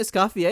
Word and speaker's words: Escoffier: I put the pronunciation Essafier. Isn't it escafier because it's French? A lot of people pronounce it escafier, right?